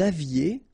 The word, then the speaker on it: aviez: Vous aviez, a Z at the end, et, aviez, and then liaison, vous aviez.